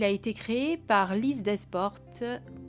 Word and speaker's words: Desportes: Et il a été créé par Lise Desportes, je dirais, sans prononcer les S, je pense que c'est comme ça que ça se prononce, et Aude Naturelle.